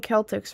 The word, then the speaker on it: Celtics: You're saying Celtics wrong. Celtics? Celtics? Celtics? Celtics. The Celtics. Celtics. So is it pronounced like it's an S?